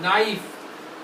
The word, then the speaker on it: knife: K में अब ये देखिए, ये क्या वर्ड है, KNIFE, नाइफ। अब इसमें K जो होता है ना वो साइलेंट होता है, साइलेंट मतलब इसकी आवाज नहीं आ रही, नाइफ, इसको हिंदी में ऐसे लिखे नाइफ बोलते हैं, नाइफ, ठीक है।